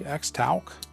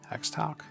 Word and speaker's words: Xtouc: The Guardian Eagle, the Xtouc, I think that's how you say it, Xtouc.